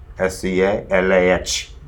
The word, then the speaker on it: Scala: anywhere what is Scala it is an Italian word Scala SCA lah Scala right I just pronounced us collide is not scalar Cara and they two